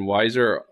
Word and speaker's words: Wieser: and then Weiser, WIESER.